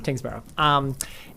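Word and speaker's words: Tyngsboro: I always mispronounce Kingsborough, it. yeah. Tingsboro.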